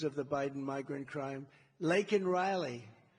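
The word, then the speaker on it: Laken Riley: the Biden migrant crime Lake and Riley and you know uh Biden was unable to pronounce her name c CER Lincoln Riley and this was right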